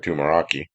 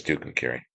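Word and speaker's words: Tucumcari: And then I knew some kids that when I was young, they called it Tumaraki, but it's Tuk Carry.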